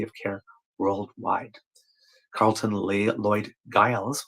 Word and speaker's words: Giles: Carlton Lloyd Giles, or Gillies, depending on how you pronounce it, but I think it would be Giles in this case, has made profound contributions to veterinary microbiology.